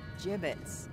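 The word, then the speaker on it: gibbets: Avery had some gibbits left over. Jibbits? What? It's pronounced jibbits.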